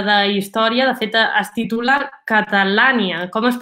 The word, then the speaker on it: Catalània: Ara ho comentaves, és un llibre d'història, de fet es titula Catalània. Com es pronuncia?